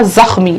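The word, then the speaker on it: زخمی: हैं जखम मशिका इसका क्या उच्चारण है जखम ख की आवाज फिर उसके बाद जखमी आशुतोष जखमी जखमी खा नहीं है ये देखिए ये ऐसे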